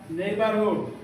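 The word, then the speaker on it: neighborhood: তিনবার এইবার দেখো এনই আই এইটুকু নেই আর জি এইচ এর উচ্চারণ সাইলেন্ট থাকবে জি এইচ এর উচ্চারণ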